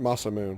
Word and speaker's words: Masamune: That's right, I pronounced it Masamune because I first pronounced it when I Turn first your saw back it.